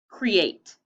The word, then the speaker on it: create: Here's the first syllable. What does it say? Cree. And here's the second syllable. What does it say? Eight. What's the whole word? Create. So we are breaking up those double vowels.